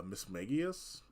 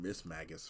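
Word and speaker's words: Mismagius: less than a year like uh Miss magius I was saying Miss Magus for like a long time um Spirits um does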